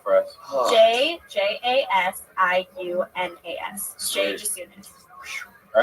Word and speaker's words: Jasiunas: Just soon as the I is silent. Spelled out for us. Oh. JJASIUNAS. Jay Jasunas.